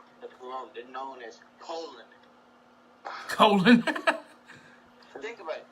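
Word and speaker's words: Colón: They're known as Colon. Colon. Think about it. It's spelled colon.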